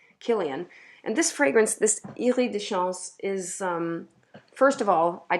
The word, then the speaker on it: Iris des Champs: I never really reached for it, and it's called Iris de Chance from Oubigon. I mean, Iris des Champs is how you spell it, just so you know which fragrance I'm talking about.